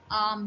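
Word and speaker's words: arm: तक के हिस को हम आम कहते हैं आर है पर 8 साइलेंट है ना सब तो आम ठीक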